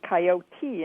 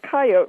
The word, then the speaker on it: coyote: If you look in dictionaries from 100 or 150 years ago, all of them have the two-syllable pronunciation as the standard pronunciation.